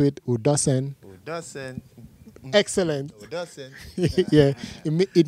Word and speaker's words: Udosen: That's how it's pronounced here in the Western world, but it's actually properly pronounced Udosen. There's like a song to it, Udosen.